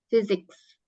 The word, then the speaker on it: physics: Oh fisika fisika fisik jadi P ketemu H itu baca fisik fisik fisika fisik bacanya physics ya fisika artinya nah kemudian